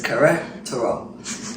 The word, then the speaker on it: Querétaro: And the nice little young lady told me how to pronounce it because I kept messing up the word. So it's Querétaro.